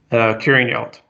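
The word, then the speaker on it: Curraghinalt: How do you pronounce the Dalradian project again? Curing Yelt.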